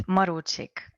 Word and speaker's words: Marocsik: It's Marocsik. I'm Marocsik. Marocsik.